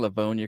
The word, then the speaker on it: Livonia: Am I pronouncing Livonia correct?